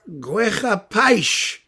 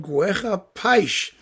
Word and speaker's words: Guerra-Peixe: brazilian music series it's this thing by cesar guerra paich that's how you pronounce it i'm told guerra paich it means war fish yeah that's his name